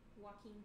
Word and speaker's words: Joaquin: Okay, next up is Joaquin Phoenix. You know, that's how you pronounce it in English.